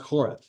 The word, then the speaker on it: Horeb: In Hebrew, it's actually pronounced Horeb.